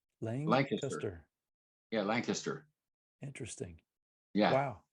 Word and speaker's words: Lancaster: It's not Lancaster. It's say it again. It's kind of Lang, L-A-N-G. Yeah, Lancaster. Lancaster.